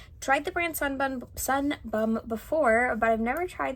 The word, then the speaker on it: Sun Bum: to my sister because I know she loves sunburn Sun Bum I keep saying it wrong it's like a